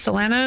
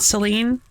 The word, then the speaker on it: Selena: Everybody, I think it was actually classically pronounced Selena, not Celine.